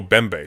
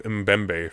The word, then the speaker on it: Mbembe: side note for the name uh the mem is silent oh bembe so a shield bembe God I've been calling him mbembe forever so that's embarrassing um uh bmbe is